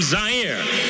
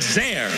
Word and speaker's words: Zaire: Howard Cosell coming to you live from Zaire. Some would pronounce it Zaire.